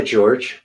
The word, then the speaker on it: Jorge: poor guy well no he goes by george i always play george okay yeah it's spelled like jorge but he's his family's originally from argentina but he grew up here and he calls himself george um but um yeah